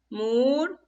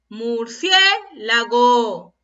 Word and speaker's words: murciélago: ¿Y dónde estará la mayor fuerza de voz? Murciélago. Así digo, ¿verdad? Murciélago. A ver, escuchamos. ¿Dónde está la mayor fuerza de voz? En la sílaba cie. Y la sílaba cie es la, a ver, última, penúltima, antepenúltima sílaba. ¿Y qué me decía la regla de la antepenúltima sílaba? Es una palabra esdrújula.